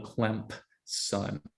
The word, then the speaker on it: Clemson: And that being the case, and they unfortunately both went to Clemson, and that's pronounced with a P in the middle, Clemson.